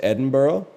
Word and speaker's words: Edinburgh: Because it's spelled Edinburgh, but it's pronounced Edinburgh.